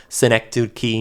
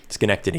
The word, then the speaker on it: Schenectady: My number one is Schenectady, New York. Schenectady, yeah. I never know how to say it. Cynic douche. Yeah, exactly. Cynic douche, New York.